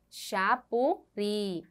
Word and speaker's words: Xapuri: tônica é a última Veja a palavra Xapuri colocamos a seta e qual é a sílaba tônica Xapuri a última sílaba também e por último